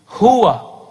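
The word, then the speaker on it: هو: Who, he. Huwa. Ya. Tapi dari dulu kita bacanya who.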